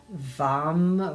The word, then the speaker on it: vam: One syllable Sanskrit mantra is vam with V and it's a medium tone toning of M.